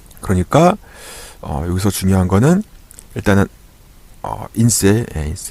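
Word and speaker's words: INSEE: 프랑스에서는 인세라고 해요. 인세 이렇게 쓸 수 있고요. 인세 이렇게 쓸 수 있는데 인세라고 발음하셔야 돼요. 아시겠죠? 요 ENSE 이렇게 하면 안 돼요.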